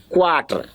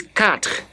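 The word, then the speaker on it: quatre: what is I also overheard some people that used to say Quattro please it's not quarter it's cut you're gonna pretend as if you don't see the U there and the pronunciation already you is not pronounced and the last e is also not pronounced all these are laws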